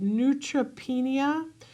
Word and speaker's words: neutropenia: My child had neutropenia uh and chronic ear infections. I'm probably saying that wrong, but you'll correct me. You said it right.